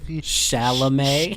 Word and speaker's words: Chalamet: Chalamet. Chalamet. The T at the end is silent.